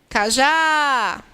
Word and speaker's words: Cajá: Cajá. Qual é a sílaba que mais se prolonga? Cajá. É o já.